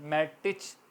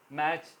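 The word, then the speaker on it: match: इस तरह मैच T silent है, M-A-T-C-H, मैटिच है मगर मैच प्रोनाउंस होगा।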